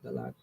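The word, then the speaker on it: Dahlak: Map shows part of the northeastern coast of Africa from the island of Dalak, I said it wrong the first time, Dalak in the Red Sea, and extending south to the area of the Comoro Islands.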